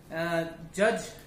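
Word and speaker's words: judge: जी होते हैं और इसमें डी हमारा साइलेंट होता है, जी पढ़ा जाता है. जैसे हमारा जज है, जी यू डी जी ई, इसमें हम डी नहीं पढ़ेंगे, जज. ग्रज है जैसे कि हमारा वर्ड. डॉज है, डॉज मतलब बच के निकलना, डी ओ डी जी ई, तो इसमें हमारा डी साइलेंट रहता है.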